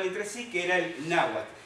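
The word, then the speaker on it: Nahuatl: sí que era el nahat palabra que se escribe nahat terminada en tele pero se omite la pronunciación de la l final y por supuesto en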